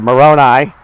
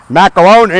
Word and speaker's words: Moroni: person's right up there moroni or as i used to call him macaroni because i did couldn't pronounce it and then because of